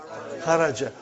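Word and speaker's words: خرجْ: Say it properly. Kharaj. With sukun. You won't say with. You will say kharaj.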